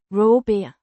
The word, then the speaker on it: råber: Pronounced Roh-ber. with the pronounced as a guttural characteristic of Danish, and the stress on the first syllable.